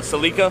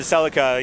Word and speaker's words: Celica: read them yeah yeah it's like a cell code is actually called a salika salika yeah right but everybody's been calling it a Celica you know in America